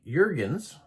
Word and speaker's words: Jurgens: Number three, the Dutch company Jurgens, pronounced almost like hens, um, purchased the patent